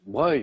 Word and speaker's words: Broglie: Alors le duc de Broglie, hein, les passionnés d'histoire le savent, ça se prononce Broglie, mais ça s'écrit Broglie.